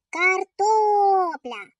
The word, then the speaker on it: Картопля: Картопля. Наголос падає на звук о.